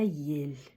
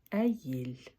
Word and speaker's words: Әйел: Э, а - это а, а вот эта буква звучит как э, но не я, а э. А эель. Аель.